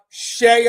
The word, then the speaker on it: CEIA: And we also have Shea USA.